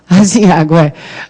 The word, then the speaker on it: aziago: Então, está aqui a sílaba tônica, no A, no segundo A.